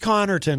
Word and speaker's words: Connarton: Well, it's pronounced Connarton, which is probably why people often misspell it. Because there's an A where there should be an E.